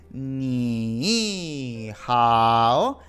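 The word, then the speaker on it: 你好: Repito, dos terceros tonos seguidos. ¿Esto qué significa? Que la primera sílaba pasa de tercer tono a segundo tono, o sea, de ni hao a ni hao.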